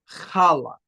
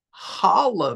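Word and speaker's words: חלה: And that Hebrew word is kala. Okay. Kala. Now Kala is actually that that's how it's pronounced with the right the the the the Bach right sound.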